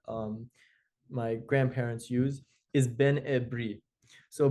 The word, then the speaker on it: Ben Ebri: my grandparents use is Benri. So, Benri um is sometimes in other groups also pronounced Benri, but in my family it's almost always Benri.